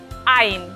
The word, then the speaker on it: ein: La EI se pronuncia ei, ein.